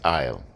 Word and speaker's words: oil: the thing then so the word you say is I'll like walking down the aisle That's How Jamaicans pronounce oil The Isle put the